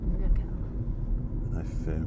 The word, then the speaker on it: Nerja: Spelled Nerja. Nurka. If some pidgin Spanish will be on here, we go, no, you don't say it like that.